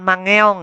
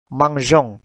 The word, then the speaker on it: mangeons: Kalau ada satu kata yang berunsur dua huruf vokal, maka huruf vokal pertama hilang. Ya. Akhirnya selalu diingat ya. Jadi cara membacanya itu huruf e-nya itu karena huruf vokal pertama dihilangkan langsung nyambung ke huruf vokal kedua o.